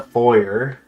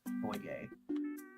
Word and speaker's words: foyer: I believe it's like a French word. I think it's foyer.